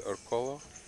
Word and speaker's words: Orcollo: Tagalog, it's Orcollo. Coyo. Coyo. At least that's the way they pronounce.